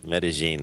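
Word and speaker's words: Medellín: it, especially here, Medellin, and Medellin is definitely the way to say it.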